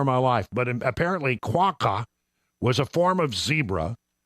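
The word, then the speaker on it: quagga: come up with a quaka it's it's it's pronounced it's spelled quu a g g a but it's pronounced the GG is pronounced as a c and apparently it it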